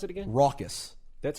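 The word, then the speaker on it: Rawkus: records is not pronounce Ruckus but it's actually pronounced raucous amen wait wait I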